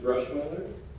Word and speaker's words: Bruschweiler: yes this is pronounced brush mother brush mother senior he's a quadri linguist and